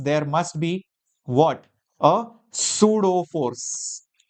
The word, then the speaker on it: pseudo: A pseudo force. Pseudo force P is silent.